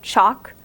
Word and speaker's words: chalk: in chalk and talk you don't pronounce the L in chalk you don't say chalk and you don't say talk you say chalk and talk it kind